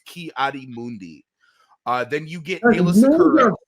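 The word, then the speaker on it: Ki-Adi-Mundi: the family just have such a hard time pronouncing his name it's kiari Mundi uh then you get Kayla RJ guy look we're not George patankening this here buddy it's kiadi Mundi okay it's not that hard and that's that's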